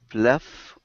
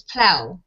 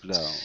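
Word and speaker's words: plough: So you're silencing the GH. So it's plow, snow plow. Okay. Okay, plow.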